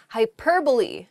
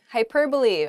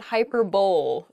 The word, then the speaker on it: hyperbole: often pronounced incorrectly this is funny I enjoy mispronouncing this first word the first word is hyperbole hyperbole um it's not hyperb though it does sound very funny to say